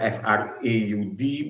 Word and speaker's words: fraud: Third, by way of fraud, even though that it is spelled F-R-A-U-D, but to pronounce it, you say fraud, as defined by section 17 of the Contract Act.